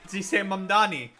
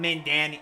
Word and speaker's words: Mamdani: That's how you say Mamdani. Not Mandani. I don't even know what the fuck Cuomo says.